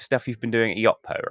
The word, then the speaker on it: Yotpo: I'm joined today by two partners in crime, Doron and Liran of, is it Yotpo? Am I pronouncing that correctly? Yeah, 50% of us are from Yotpo, yes.